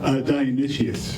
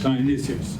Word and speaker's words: Dionysius: We're not talking about Dionysus, we're talking about, how do you pronounce? Dionysius. Dionysius.